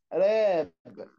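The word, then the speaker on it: wrapped: يغلف را يغلف الهديه رابد رابد كمان الدبليو سايلنت جوين جوين ينضم جويند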